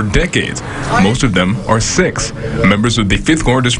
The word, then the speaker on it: Sikh: Some well-meaning people mispronounce it to avoid sounding disrespectful, but the correct pronunciation is Sikh.